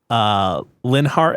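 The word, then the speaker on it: Linhardt: I don't know how they pronounce it in English. Yeah, Linhart. Yes, it is Linhart in English, and he is my 3rd favorite.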